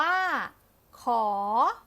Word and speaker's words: ข: ขอ ขอ ขวด เอ่อ ออก เสียง ว่า ขอ จะ ขอ จะ ขอ มี ตัว